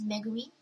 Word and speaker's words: Megumi: So I took my middle name, which is Megumi, but Megumi is mispronounced oftentimes by non-Japanese speakers, and they say Megumi, like, hey, Megumi, and they would call me.